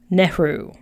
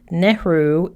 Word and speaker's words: Nehru: I'll spell it for you when I'm done. But the quote is from Jawaharlal Nehru.